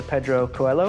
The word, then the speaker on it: Coelho: Today we're really excited to be joined by Professor Pedro Coelho.